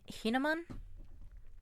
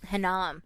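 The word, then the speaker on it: Hinnom: Gehenna refers to historical valley near Jerusalem in the valley of Hinaman. Um, Hanam. Hanam. I put in an extra syllable.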